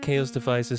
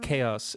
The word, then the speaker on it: Xaoc Devices: let's look at chaos devices sadar or zadar whatever yeah company's name is pronounced chaos and yes that's still